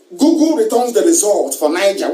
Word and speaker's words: Niger: returns the results for niger which is n-i-g-e-r niger is you have an agent is that correct you also have nature republic which is friend french pronounced nigel who knows niger you